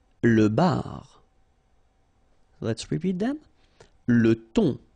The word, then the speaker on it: le thon: Le thon. Remember, H here is not pronounced. Le thon.